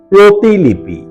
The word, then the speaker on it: প্রতিলিপি: সঠিক এবং শুদ্ধ উচ্চারণ হল প্রতিলিপি রফালা এর সাথে অকারন্ত উচ্চারণ প্রতিলিপি 38 মূল শব্দ হল